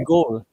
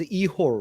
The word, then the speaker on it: Ігор: Ukrainian pronunciation is Ihor, right? Igor, yes, it's a little bit softer.